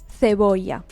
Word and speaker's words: cebolla: It is spoken in Spain, and in Spain they pronounce the letter C followed by an I or an E. They pronounce it th, with the tongue in the middle of your teeth.